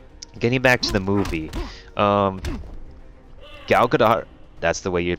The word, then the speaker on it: Gal Gadot: go along um getting back to the movie gal gadot that's the way you pronounce name is not the albedo depend on matter what other people say it's quite like the spelling whatnot it's gal gadot um she she actually remains to be pretty